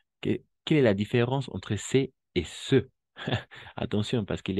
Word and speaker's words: ce: Uno es c'est, n'est-ce pas? C'est, y el otro es ce. D'accord? E ouverte, E fermé, E abierta y E cerrada.